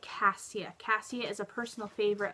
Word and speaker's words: Cassia: It's a beautiful name, and in Europe, it can be pronounced Cassia, which I'm not crazy about. I definitely prefer the Cassia pronunciation.